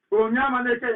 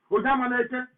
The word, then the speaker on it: Onyema Neke: Onyema Neke, in fact, that's the correct pronunciation. Onyema Neke.